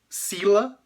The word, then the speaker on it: sila: Então, en sila, de novo, outra palavra de duas sílabas que é paroxítona, ou seja, acentuada na primeira sílaba eh da palavra e não na última.